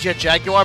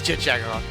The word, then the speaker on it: Jet Jaguar: You might think it's Jet Jaguar, but absolutely no one has ever in the history of ever pronounced it Jet Jaguar. is chit jagger.